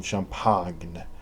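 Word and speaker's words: champagne: there and we'll drink some champag which is the right French pronunciation mixed with whiskey and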